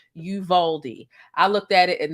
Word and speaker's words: Uvalde: at the title right it's called uvalde texas it's pronounced yuvaldi i looked at it